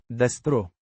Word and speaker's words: destro: Pronounced Destro. with the stress on the. Des.